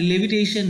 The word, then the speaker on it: levitation: His powers of leviation would make a fakir stare. And what do you mean leviation? Leviation मतलब होता है, sorry, levitation है ये। So please pronunciate it as levitation.